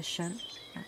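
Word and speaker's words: 神: Donc, quand c'est avec la clé de prière, donc c'est Shen. Deuxième ton.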